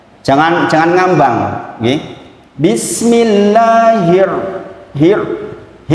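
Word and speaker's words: بسم الله الرحمن الرحيم: Hi ditarik sedikit jangan Bismillahirrahmanirrahim kan beda ya Bismi llah kemudian di situ ada Hiro itu namanya alif lam syamsiah Alif lamnya enggak dibaca langsung masuk ke huruf ro nah huruf ra jelas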